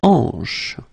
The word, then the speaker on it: hanche: La hanche. La hanche, remember, H here is not pronounced, so you get the sound en, hanche at the beginning.